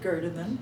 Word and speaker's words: Gerdiman: and joe turner and myself judy meyer are talking to gerdeman is that correct how you pronounce your name my name is gerderman can you spell that virus uh the last name g-e-r-d-i-m-a-n and